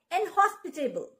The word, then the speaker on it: inhospitable: hospit let's get started the first word is inhospitable i n h o s p i t a b l e inhospitable inhospitable the second word is hostess h